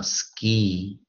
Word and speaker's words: ski: 这个就比较特别一点哦，因为他念的是落，他念的是那个一，那个长一音啊，ski。